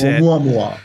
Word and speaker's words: Oumuamua: Oumuamua. That's Oumuamua.